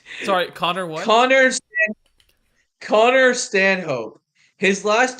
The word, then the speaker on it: Stanhope: Connor Connor Stanhope. His last name is spelled Stanhope.